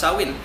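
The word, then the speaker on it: Samhain: two thousand years ago the ancient Celtic celebrated saw in its felt this way but pronounced saw in November one was their new year and october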